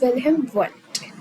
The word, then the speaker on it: Wilhelm Wundt: हाँ, तो Wilhelm Wundt. It's Wilhelm Wundt. Okay, so D is silent. I practiced it on Google कि इसको कैसा pronounce करना है. तो Wilhelm Wundt is the name, and he's the father of modern psychology.